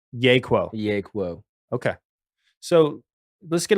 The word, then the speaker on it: Yeahquo: It's Yeahquo. Yeahquo.